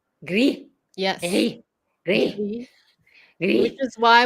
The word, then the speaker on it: gris perle: It's Gris. Gris. Belle. Yes, you don't put the emphasis on the E, even though you do pronounce it. Perle. So gris perle.